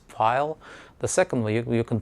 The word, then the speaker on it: Pfeil: In the United States, it's pronounced file tools, and so they are really nice tools.